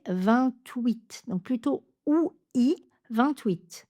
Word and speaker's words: vingt-huit: On va prononcer 28.